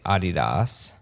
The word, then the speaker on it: Adidas: have Patrick Nava from as you would say and as he would say Adidas as us us Americans say Adas Adidas uh Stripes yeah